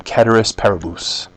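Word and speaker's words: ceteris paribus: as cedus parabus or if you want a more um literal transl not a translation but a pronunciation of this Latin term kis parabus but I'm not going to do it I'm just going to say cus parabus because that's about all I can handle but it means all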